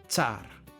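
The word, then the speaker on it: tsara: Tsar.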